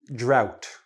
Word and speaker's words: drought: First, we're going to start with flood and drought. Okay, the GH, not pronounced, drought, flood, like going up.